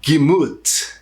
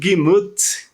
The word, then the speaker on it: Gemüt: Por exemplo, o termo Gemüt, espero que seja essa a pronúncia, né? O termo Gemüt, que é de extrema importância, né, para você